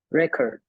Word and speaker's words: record: The stress. Not only that we change the pronunciation of E, but also the stress.